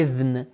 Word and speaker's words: اذن: طرح تلفظ کرتے ہیں، لیکن عربی میں صحیح تلفظ اس کا ہے اذن.